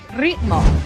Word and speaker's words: ritmo: We say ritmo. Let's say it together now. Ritmo. Can you say it one more time with me? Ritmo. Ritmo. Ritmo. Oh, that's very good. Remember to roll your R's.